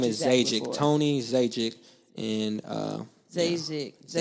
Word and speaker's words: Zajikc: So they think the J is silent. But Czechoslovakian is Zajikc.